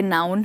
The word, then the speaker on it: noun: ये वाला यहाँ पे नाउन है और ये है नन। तो याद रखिए, NUN हो गया नन और NOUN हो गया नाउन, जिसे हम संज्ञा भी बोलते हैं हिंदी में।